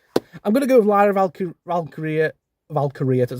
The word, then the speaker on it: Lyra Valkyria: Okay, I'm going to go with Lyra Valkyria, that's how you say it, I can't ever say it, to retain via interference from Bayley.